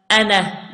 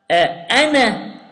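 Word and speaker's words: أنا: will skip the vowel, we will skip the alif here, okay? We will not pronounce the alif, okay?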